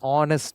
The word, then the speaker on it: honest: An honest man. So H is silent.